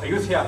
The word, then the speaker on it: Ayutthaya: Pronounced Ayutthaya here, but Ayodhya was the capital.